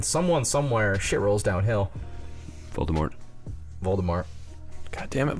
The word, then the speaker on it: Voldemort: Voldemort. God damn it, Voldemort. Heard you don't pronounce the T.